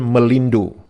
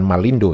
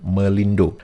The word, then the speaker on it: Melindo: Nah, kemudian pada tahun 1959, itu ada mencoba kerja sama dengan negara Malaya yang disebut dengan ejaan Melindo, bukan Malindo ya, Melindo.